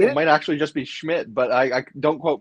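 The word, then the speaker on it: Szmyt: Pronounced Schmidt. According to Google, it is pronounced Schmidt.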